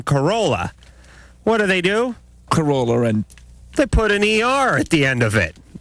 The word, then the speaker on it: Carolla: Hi, this is Clive Barker, and you're listening to LoveLine with Adam Carolla and Dr.